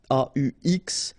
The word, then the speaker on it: aux: then a plus les will become au, aux, but then remember that phonetically it's o.